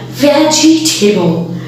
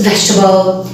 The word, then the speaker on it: vegetable: Yes, remember, this word does not sound like vegetable. It's not vegetable, it's vegetable. Vegetable.